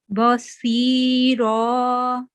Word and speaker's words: Basira: And also this letter, this is a thick letter, swad, tafkhim letter. Okay, this one also you have to pronounce thick and in a rounded way. Basweera. Basira.